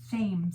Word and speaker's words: Thames: Spelled with a TH. Thames. The Thames River. Kind of like Thom. Kind of like the name Thom.